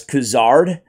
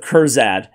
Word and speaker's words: Kurzad: two years I've been pronouncing this dude's name as khazard instead of kurad so never again I